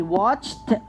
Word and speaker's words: watched: How we're going to pronounce the ed? We're going to say it. Watched. Watched. He watched. Okay? So we're going to pronounce it as ta.